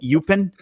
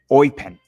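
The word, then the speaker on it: Eupen: Gabrielle sonina currently plays I've been calling it upen but he taught me and here it goes It's called oen almost as if you're like a pirate saying oen I don't know why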